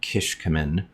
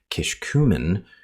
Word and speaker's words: Kishkumen: The correlated pronunciation of Kishkumen as Kishkumen, with a shifted stress onto the second syllable in the official Book of Mormon pronunciation guide, is not authoritative.